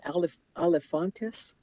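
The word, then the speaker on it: Alefantis: Am I pronouncing your last name correct? Is that Olifantis?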